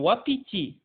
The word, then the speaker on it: wapiti: W, الW هنا بتتنطق نطقين، ممكن تتنطق v comme wagon، un wagon، un wagon، أو تتنطق و comme زي un wapiti، un wapiti.